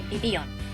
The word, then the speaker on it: Vivillon: See, Japanese doesn't really use V sounds in its language, so it substitutes with a B sound, making it Vivillon.